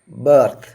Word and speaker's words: berth: BIRTH birth. BERTH birth. രണ്ട് വാക്കുകളുടെയും ഉച്ചാരണം ഒരുപോലെ, എന്നാൽ ഇവയുടെ സ്പെല്ലിങ്ങും അർത്ഥവും വ്യത്യാസം.